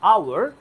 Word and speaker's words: hour: Dash আওয়ার, I spent, এই যে আওয়ার, এইচ এর উচ্চারণটা যেহেতু সাইলেন্ট হয়ে ও এর উচ্চারণ হয়ে যাচ্ছে, তাহলে এখানে আর হাওয়ার বলার সুযোগ নেই, এখানে তোমাকে বলতে হবে আওয়ার। আর যেহেতু আওয়ারের আ এটা ভাওয়েল সাউন্ড, তাহলে এটাকে বলতে হবে অ্যান আওয়ার।